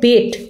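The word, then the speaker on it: Bet: বিটি যে উচ্চারণটা হচ্ছে সরাসরি বেট কথাটাকেই উচ্চারণ হবে এবং বি অর্থে বেট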